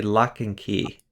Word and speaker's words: Loch-and-Quay: there at the end oh uh lock apparently lock and key is the way to pronounce it lock and key ah okay okay